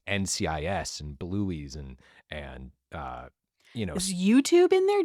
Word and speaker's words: Bluey: It's called Bluey, not Bluey's. Bluey's Yeah, is my you always mispronounce Bluey.